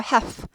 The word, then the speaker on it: half: 반 절반 1 그래서 L이 무음이 help 하지 않고 half half half half half